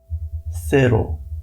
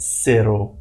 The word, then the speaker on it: cero: Cero. No, it's not cero, it's cero.